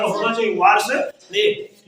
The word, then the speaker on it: वासुदेव: यहाँ लगा है उच्चारण होना चाहिए, वासुदेव, ठीक है ना, ने किया।